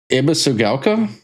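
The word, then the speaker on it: Ebisugaoka: Pronounce the name of the town. Ebisugala.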